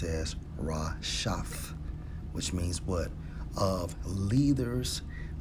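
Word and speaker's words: רשת: Strong's H 7568, pronounced as Rashaf, which means what?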